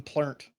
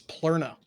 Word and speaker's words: Plura: My name isn't even Plent. It's Plura.